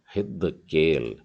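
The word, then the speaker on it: חדקל: और जो खेत है उसका उच्चारण गले से निकलने वाले ह से होता है, मतलब हिद्द केल, हिद्द केल।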